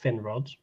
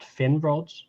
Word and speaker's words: Finrod: So if you listen to how she says Finrod, it's not Finrod, But Finrod. Finrod. Fin. Finrod. Like it was spelled Feen. That's how she's pronouncing it.